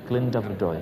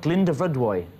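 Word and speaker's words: Glyndyfrdwy: Glyndebrydwy. Yeah, if you do it in two sections, Glyndebrydwy.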